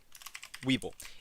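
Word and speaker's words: Webull: Weeble right it's called It's pronounced like this like uh for options Weeble if you're going to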